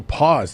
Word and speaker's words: Paz: So pause. So if it's P-A-Z, I gotta say pause.